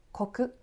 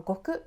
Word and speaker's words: 石: やすく表すためにこの国または悟と読むこの単位が使わ